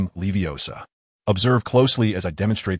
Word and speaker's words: Leviosa: "It's because you mispronounced the spell. If I recall correctly, your previous incantation was Leviosum." Ron muttered Leviosa and Leviosum twice, his expression turning sour.